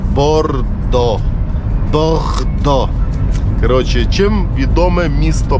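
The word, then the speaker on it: Bordeaux: І ви думаєте, що ця назва читається як борде AUX, но ні, це читається як Бохто, по-французьки. Дивіться, яка річка гарна. Йо-мойо. Та ти що? Вона якась, правда, така вся коричнева, як ніби в болоті. Ну, та ти що? Яка широка річка. Но це читається не борде AUX, а читається бордо.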